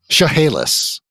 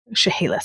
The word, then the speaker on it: Chehalis: so you guys can tell me how to pronounce that tribe's name, because I'm going to say it wrong. Chehalis. Chehalis, okay.